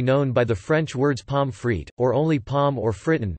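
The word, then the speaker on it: Pommes frites: by the French words pomfrit or only pom or Fritton derived from the French words but pronounced as German words they are often served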